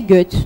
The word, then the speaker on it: Goethe: C'est prononcé Goethe.